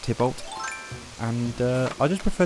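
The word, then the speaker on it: Tybalt: Tibol or it's pronounced Tibolt. And uh I just prefer Tybolt. Honestly, I know it's meant to be based off of the Romeo and Juliet character, but I've never actually uh read the play or seen the play.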